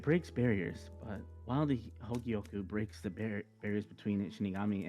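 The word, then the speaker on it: Hōgyoku: Higyoku? Yeah, the pronunciation's on the right. Thank you. It breaks barriers, but while the Hogyoku breaks the barriers between Shinigami and Hollow, this breaks the barriers between time and space.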